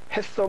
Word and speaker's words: HACCP: 그래서 HACCP를 그냥 햇섭이라고 그냥 발음을 하는데 햇섭 마크를 햇섭을 지정해주는 그런 식품업소가 있습니다.